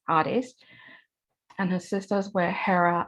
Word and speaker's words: Hades: me haiti is why i'm told the proper greek pronunciation is artist and her sisters were